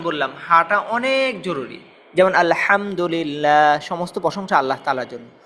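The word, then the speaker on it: الحمد لله: শুদ্ধতাটা খুব জরুরি আল্লাহ এরপরে এইযে যে হার উচ্চারণ বললাম হাটা অনেক জরুরি। যেমন আলহামদুলিল্লাহ সমস্ত প্রশংসা আল্লাহ তাআালার জন্য। আর কেউ যদি আলহামদুলিল্লাহ হা পড়ে তাহলে অর্থ পরিবর্তন হয়ে যায়।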